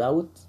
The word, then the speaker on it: doubt: اول حاجه نعمل مقدمه كده بسيطه نقول there is no doubt، الدي ال بي هنا ما بتتنطقش، لا شك that satellites